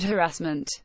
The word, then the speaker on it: harassment: Harmon to her credit knew where to place the emphasis on the word harassment others gave it the Frank Spencer treatment stressing the second syllable soon after Miss Harmon